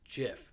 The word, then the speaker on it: GIF: let's give gift right you would think well apparently it's jiff leave it at that